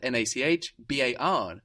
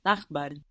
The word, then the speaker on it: Nachbar: This is spelled N-A-C-H-B-A-R. It ends in a consonant. Doesn't sound like a consonant though. Sounds like an A, no? Nachbar.